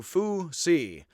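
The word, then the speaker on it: Fuxi: X is pronounced sort of HS with a bit of an H on the beginning of an S, and I fake it again and just try to make it.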